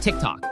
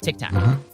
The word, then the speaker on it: TikTok: wrong Ben okay firstly it's pronounced tick tock not Tic Tac sound the same to